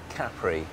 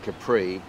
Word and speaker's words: Capri: Carey what do you want to know about Caffrey as it's pronounced locally well that was the first thing